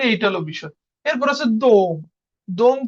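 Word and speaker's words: дом: এরপর হচ্ছে দোম। দোম কি? দম দমের ওর মতনই উচ্চারণ হয়।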